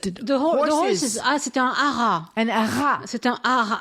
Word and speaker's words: haras: Arras. Where you breed The horses. Ah, c'est un haras. An haras. C'est un haras. I don't think you say the S.